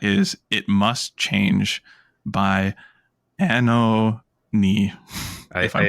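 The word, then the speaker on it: Anohni: Uh, it apparently is Anani. Anani. That's right. Uh, a n o h n i.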